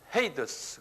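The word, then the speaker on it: Hades: 이걸 영어로는 헤이더스 그래요. 한번 발음해 보세요. 헤이더스. 헤이더스인데 하데스라고 그런다.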